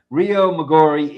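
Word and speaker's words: Riomaggiore: rio maor rio majori moror Le no it's Rio magori Italy Rio migori that's what it is it is pronounced Rio oh all I had to do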